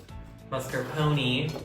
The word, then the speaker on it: mascarpone: What you're gonna do next is you're just gonna add a couple of these mascarpone. How do you pronounce mascarpone?